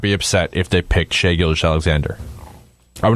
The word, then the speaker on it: Shai Gilgeous-Alexander: How do you pronounce his last name? For sure. Shai Gilgeous-Alexander.